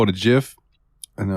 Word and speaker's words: GIF: like no dude it's GIF he's like oh Where Are You Gonna Write a graph good Lord comes out and tells me it's pronounced with a J I will tell him